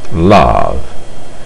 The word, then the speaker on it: love: O verbo amar, por exemplo, que é o verbo love, graficamente ele termina em E, mas foneticamente ou pronunciando, nós pronunciamos love, então termina no som de V.